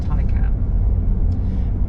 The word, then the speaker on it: Taycan: look at it says taken but it's actually pronounced thai cam and there is also a japanese word taken